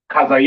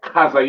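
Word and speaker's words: חזיר: It's pronounced kazayar, all right? Kazayar, all right?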